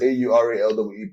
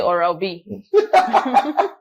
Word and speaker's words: Aurawe: They call me Aurali, the sugar daddy of Lagos. It's Aurawe. Pronounce it well. Some people say Aura. Some people say Oral B.